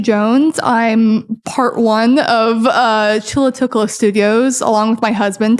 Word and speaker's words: Chulatvklo: So a lot of times when the words are anglicized, the U and the V's are interchangeable.